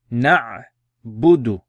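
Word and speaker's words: نعبد: Right, so pronounce it then. Na'budu, na'budu.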